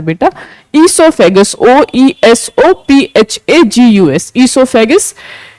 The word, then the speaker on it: oesophagus: Food pipe का जो दूसरा नाम होता है वो होता है बेटा ईसोफेगस, OESOPHAGUS, ईसोफेगस। तो इसमें ओ साइलेंट रखा गया है इसलिए यह ईसोफेगस हो गया।